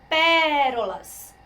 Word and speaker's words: pérolas: Pronuncia pérolas, únicas. A sílaba tônica está aqui.